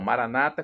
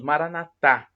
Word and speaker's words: Maranata: dos Evangélicos ou protestantes eles falam Maranata com a tônica na penúltima sílaba e nós católicos falamos Maranatha com a tônica na última sílaba forte porque a f